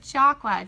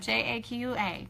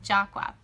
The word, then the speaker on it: JAQUA: We pronounce it JAQUA, J-A-Q-U-A, JAQUA. So not JAQUA, even though that really sounds cool. It's not French, so it's just JAQUA.